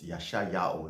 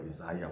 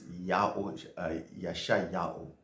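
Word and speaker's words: Yeshayahu: And Isaiah's name also comes from that one, which is Yashayahu, not Isaiah or Isaiah, whatever they call it. It's Yashayahu. Yahweh saves.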